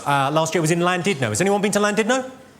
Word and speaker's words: Llandudno: I said, "It's lovely to be in Llandudno." This guy, front and centre, where you're sitting there, face like fucking thunder, went, "It's not Llandudno, you bloody fool.